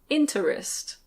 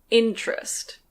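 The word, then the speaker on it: interest: This one can be pronounced "in-te-rest". In-te-rest. But that sounds a bit strange. Normally we say "in-trest". In-trest. Again we have a /t/ followed by a /r/, so it becomes "chr". In-chrest.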